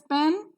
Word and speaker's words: pen: So P-E-N is pronounced not as pen, but as pen with a slight h sound.